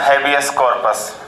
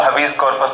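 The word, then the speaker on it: habeas corpus: बंदी प्रत्यक्षीकरण, हैबियस कॉर्पस, कहीं कहीं भी उसको हबीस कॉर्पस भी बोलते हैं, इंग्लिश में तो अपना अपना प्रोनाउंसिएशन है ना।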